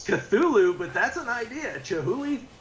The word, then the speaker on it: Cthulhu: day and he goes how do you pronounce that chihulu and i was like it's cthulhu but that's an idea